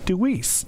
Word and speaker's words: DeWeese: But this week, we are pleased to have Jenifer DeWeese.